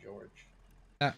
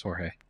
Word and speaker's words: Jorge: grenade is uh yeah i've just been calling him george it's jorge i don't know where the fire was coming from but uh i had served with a marine whose first name was jorge spelled the same way i don't i'm